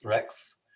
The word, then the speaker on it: Regts: So my wife's last name is Dutch. It's Regts. Think of that. Regts. Right? It's nasty. So they pronounce it Rex.